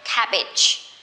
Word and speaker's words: cabbage: Remember, G-E here, we say cabbage, cabbage.